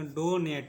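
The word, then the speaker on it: donate: होगा ट ठीक है और ई का उच्चारण नहीं होगा क्योंकि क्या है लास्ट में और उसके एक अक्षर पहले ए आया है ठीक है इसको पढ़ेंगे डोनेट इसको पढ़ेंगे डो नेट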